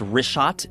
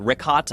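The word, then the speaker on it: Richat: In the first couple uh I just want to say it's Rishot. I used to call it Rickot. I was mispronouncing it.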